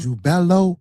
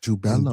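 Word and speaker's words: Jubelo: So, these three ruffians, you got the name wrong. It's Jubella. Jubella. Jubello. Jubello. Jubelum. Not Jubel.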